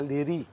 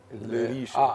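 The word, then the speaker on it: Leriche: الريش في بعض الناس بتنطقها ليري، ليريش. لكن هي اشهر ليريش في القصر يعني، بس هو فرنساوي. فرنساوي.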